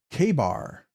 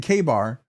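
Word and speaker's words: Ka-Bar: Todd Carr, Rob's already announced, pronounce K-bar, K-bar. Oh, so you're just saying K-bar.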